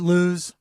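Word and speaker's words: Lewes: stay the weekend in Lewis, Delaware, where they have their beach house? Mm-hmm. So isn't it Lewis? No, it's Lewis. It's Lewis. Spelled Lewis. It's spelled Lewis, Lewis, but it's pronounced Lewis.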